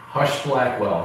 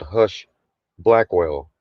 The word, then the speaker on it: Husch Blackwell: Hush Blackwell. Hush Blackwell. I wonder how many pedophiles they've defended. That'd be an interesting. Think about that. They have to, that's why it's called Hush Blackwell, right?